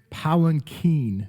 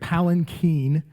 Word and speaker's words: palanquin: second purpose of the ark as a sacred palanquin, is how you say that, sacred palanquin, which was a throne.